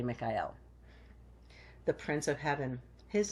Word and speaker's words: Michael: of Archangel Michael and that's pronounced actually Mikael the prince of Heaven